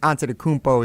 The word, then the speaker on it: Antetokounmpo: I believe the original pronunciation is Giannis Antetokounmpo. That's the Nigerian pronunciation. I think Antetokounmpo is actually like the slight Greek inflection from what I've heard and read.